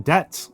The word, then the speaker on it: debt: debt is not um the B in debt and the P in receipts were not uh are not um and the S in isleisle and island are all things that were added to the words uh later in in our history, right? They are not from old English. uh those are old English derived words uh where the letters were added in in order to make the language look more Latiny uh during the 16th century.